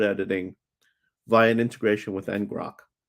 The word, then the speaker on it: ngrok: And it allows for live collaborative code editing via an integration with ngrok and nggrok. No, ngrok. I did say it right the first time.